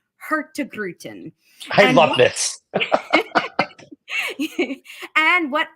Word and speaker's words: Hurtigruten: slide because it is the phonetic spelling or phonetic saying of our name hurt to gruten I love this and